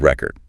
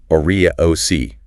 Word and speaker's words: record: Okay, think about the word record. Stress the first syllable. Orac, that's the noun. I have the record. Stress the second syllable. Record. That's the verb. Please record this. Same spelling, different word, just based on stress.